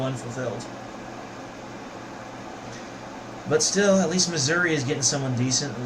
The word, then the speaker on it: Missouri: That's why it's called Missouri. It rhymes with misery. It's spelled like misery. And misery loves company. Missouri.